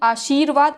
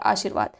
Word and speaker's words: आशीर्वाद: अगला प्रश्न, आशीर्वाद, आशीर्वाद ही बता चुके हैं, शाह में बड़ी की मात्रा होती है और उड़ने वाला रहा होता है, तो शाह में हम इसको प्रोनाउंस करते हैं आशीर्वाद, उड़ के लगता है वहाँ पे आशीर्वाद।